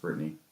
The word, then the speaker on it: Bretagne: which is spelled Bretagne. Okay. It's Brittany. It's Yeah. pronounced Brittany. Okay.